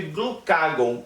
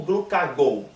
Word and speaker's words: glucagon: Eu sou Henrique, sou nutricionista e hoje nós vamos conversar sobre glucagon ou glucagon. A pronúncia aí vai de acordo com como você preferir.